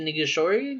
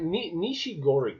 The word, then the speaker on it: Nishigori: The creator was it Atsushi Nigashori? Nigashori, that's the Something director. like that. Yeah, Creator? Nishigori is how I would Nishigori. pronounce it. Nishigori.